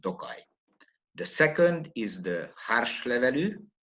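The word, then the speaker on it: Hárslevelű: varieties planted in tokai the second is the harsh level pronounced in hungarian it's an aromatic variety or semi-aromatic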